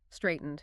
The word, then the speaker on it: straightened: Threatened, straightened. Those end with a hard D sound.